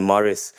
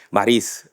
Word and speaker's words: Maris: Um, current general manager of MTC Morris Maurice actually. I need to pronounce it properly.